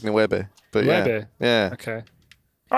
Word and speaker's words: nueve: But they do pronounce it a bit more like a B, almost like nueve.